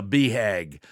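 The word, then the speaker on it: BHAG: ready be hag man this is a beehag b hag is spelled b-h-a-g and it stands for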